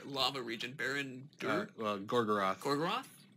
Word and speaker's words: Gorgoroth: Gorgoroth? Gorgoroth. Barad-dûr is the tower that you see in the distance there, that opening shot. But I am so embarrassed. That's in the region of Gorgoroth.